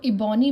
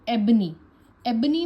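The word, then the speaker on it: ebony: अगर आप इसको इबोनी पढ़ेंगे तो आप इसको कभी भी सही नहीं लिख पाएंगे। इसीलिए शॉर्टहेंड में प्रोनाउंसिएशन बहुत जरूरी है। तो एबनी एबनी में हमारे स्ट्रोक्स हैं बी और एन।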